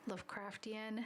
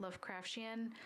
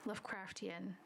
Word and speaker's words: Lovecraftian: It should be said as Lovecraftian, not Lovecraftian. I've been reading it like you would Martian for example, but it's apparently Lovecraftian.